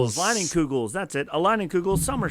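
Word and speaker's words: Leinenkugel's: I have a Lingenheingens. How do you say it? Leinenkugels. Leinenkugels.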